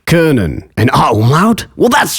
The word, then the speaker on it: können: To pronounce O umlaut, all you have to do is round your lips for O while saying Österreich, können.